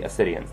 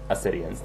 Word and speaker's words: Assideans: um let me just explain the term obsidians now it's spelled a-s-s-i-d-e-a-n-s there is no h at the beginning that's because it is a greek word and in greek of